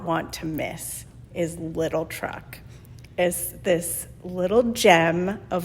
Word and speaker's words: Truc: walk ups but and truck is spelled TR r u c no K little truck amazing food